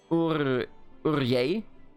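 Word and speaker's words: Urgell: aside, when we were talking about Urgel, it's actually pronounced Urye.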